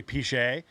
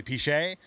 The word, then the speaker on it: Pichet: My last name is actually Pichet. That's full government, by the way. And we shorten it to Piche. That's what everybody calls me, is Piche, but it's actually Pichet. Rhymes with Dante.